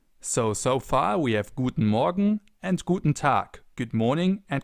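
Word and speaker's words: Guten Morgen: In the morning, for example, you say Guten Morgan.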